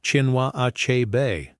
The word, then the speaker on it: Chinua Achebe: It's pronounced Chinua Achebe, not how you said it.